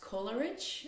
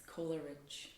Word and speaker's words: Kolaric: My last name is pronounced Kolaric, actually Kolaric. It's like rich Coca-Cola, Kolaric. People have their own variations like Kolaric, Kolarikovna, and a lot of other things, but it's Kolaric.